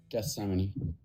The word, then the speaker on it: Gethsemane: Uh it's the uh then Jesus the garden of G I don't know how to pronounce that word. G Thessamine. Gethsemane. Gethsemane.